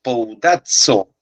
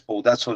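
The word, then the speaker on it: σπουδάζω: bondadzo en el griego Esta es la letra Sigma es como una s Esta es la pi que se pronuncia como P S poudazo en el griego aprendan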